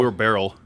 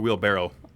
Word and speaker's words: wheelbarrow: yeah I was calling you a wheel call wheel barrel real it's a wheelbarrow wheelbarrow listen there's a there's plenty of words